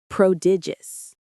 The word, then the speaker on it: prodigious: Prodigious. Prodigious. Prodigious. The stress is on the middle syllable. Dig.